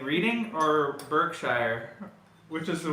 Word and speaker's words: Reading: Pronounced Reading. Oh, it's pronounced Reading. It's not Reading.